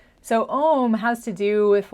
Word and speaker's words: Om: little bit technical, but the little semicircle and the dot above the syllable mean that it's Om instead of O.